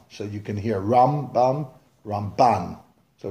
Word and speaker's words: Ramban: Put the pronunciation of Rambam on the first half of the word, and Ramban, put the pronunciation on the ban, so you can hear Rambam, Ramban.